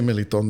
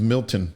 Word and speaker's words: Meliton: Because if I say Meliton, they're not going to pronounce it right. The closest they're going to get to is Milton.